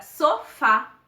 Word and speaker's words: sofá: a última por exemplo a palavra sofá a sílaba mais forte é o fá e é a última sílaba e as palavras paroxítonas